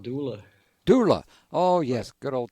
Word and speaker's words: Dula: It's not Dooley, it's Dooley? No, his name was Tom Dula.